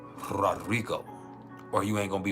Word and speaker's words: Rodrigo: And you gotta roll your R's. Rodrigo.